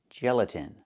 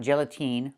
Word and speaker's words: gelatin: The last syllable, the last vowel, is not the long E like green beans. It's the short I like this is. It's more open. Not E, but I, gelatin. So again, not gelatine, but gelatin.